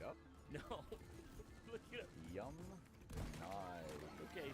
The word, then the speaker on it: Yamnaya: Yamnaya. Okay, so the Yamnaya people, not Yamnia.